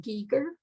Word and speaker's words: Geiger: And mine, I pronounce my name Giger, but it's spelled Geiger, which is the German pronunciation. The Swiss say Giger. And the cultural thing in